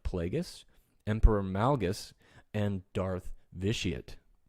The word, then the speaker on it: Vitiate: emperor malgus and darth vitiate vitaet sorry i have to say it like that because people give me so much crap for mispronouncing his name on a video i did a